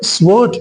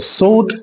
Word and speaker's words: sword: இதை sword அப்படின்னு சொல்றது தவறான ப்ரொனன்சியேஷன். இந்த வேர்டில் W வந்து சைலண்ட். ஸோ sword அப்படின்னா சொல்லணும்.